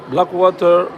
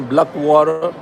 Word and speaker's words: Blackwater: Black Water ou Black Water selon les la prononciation américaine, Black Water ou Black Water comme les francophones disent.